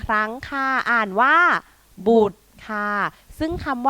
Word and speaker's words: บุตร: คำ นี้ ก็ ง่าย ทำ นี้ อ่าน ว่า บุตร สั้น ๆ เลย ค่ะ เด็ก ๆ อ่าน ตาม ครู กิ๊ก อีก 1 ครั้ง ค่ะ อ่าน ว่า บูด ค่ะ ค่ะ ซึ่ง คำ ว่า บุตร นี้ นะ